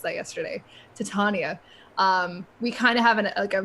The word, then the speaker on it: Titania: Like I feel like we don't really have, I guess now with E3 and seeing Titania, I learned how to pronounce that yesterday. Titania.